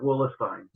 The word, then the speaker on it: Willistein: about the derivation and the E is before the I, so it's supposed to be pronounced like Bernstein, so it's supposed to be pronounced like Willistein.